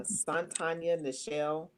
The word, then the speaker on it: Sontonya Necheal: Ooh, I am Sontonya Necheal, pronounced exactly and spelled the way that it sounds, rather.